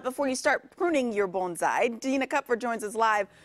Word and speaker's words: bonsai: I'm just impressed that you correctly said bonsai.